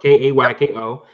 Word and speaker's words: Keiko: I think it's Keiko. Keiko. Yes, this is actually how it's spelled. Kayko.